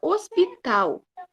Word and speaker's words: hospital: aqui ó na palavra Hospital eu pronuncio hospital hospital né eu falo Hospital esse H é uma letra Muda então ela não é